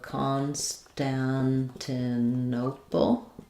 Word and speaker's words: Constantinople: Stress is on the O, but we have secondary stress on con, so it sounds like constan. This one is an A vowel, and this one's an A, black cat vowel.